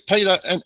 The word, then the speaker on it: Peter: from the Netherlands and in the Netherlands you pronounce my name is Peter so it's Peter D um so I came